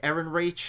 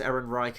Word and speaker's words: Ehrenreich: interesting but Alden Ehrenreich Eren reach I don't really know how to pronounce I think it's Ehrenreich I think it sounds very German I haven't seen him